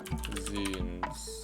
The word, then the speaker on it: zine: Zines. Pronounced zine.